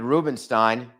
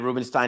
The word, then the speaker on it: Rubenstein: regular show Dad Collective go as in David Rubenstein I may have mispronounced his name yesterday I may have said